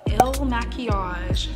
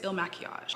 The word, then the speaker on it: Il Makiage: we are testing um the ill machiage foundation pretty sure that's how you pronounce i think it's ill machias personally based off of